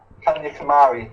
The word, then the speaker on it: Kanyakumari: the pronunciation to be honest how do I pronounce it is it it's Kya Kumari Kan Kumari okay thank you for that okay so I'm G to spend my time walking from Kan Kumari till Moon by that should take around three